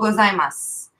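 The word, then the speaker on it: ございます: gozaimasu soup but but you know they don't pronounce new in the end okay you got all gozaimasu cuz I'm us yeah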